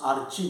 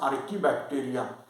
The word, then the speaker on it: archaebacteria: are called as bacteria don't pronounce archie bacteria the spelling contains chi it is called as archaebacteria they survive somewhere at